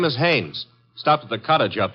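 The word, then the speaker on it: Haines: No, no, no, not Hines. Hannes. Couldn't be Huntingberg. No, it couldn't be. The name is Hannes.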